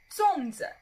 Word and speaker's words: 粽子: go on to salsa salsa salsa now the pronunciation is a little bit tricky for you so Songza first leg path excitement and song song so